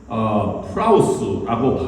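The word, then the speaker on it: πραΰς: 원래 온유라고 하는 말의 히라버는 프라우스라고 발음합니다.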